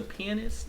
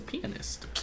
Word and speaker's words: pianist: You made another version of me as a pianist? No, a pianist. A pianist, nigga. A pianist. It's a pianist.